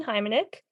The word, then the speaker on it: Hymanyk: you okay um hi my name is heimenick um I am actually a bachelor of an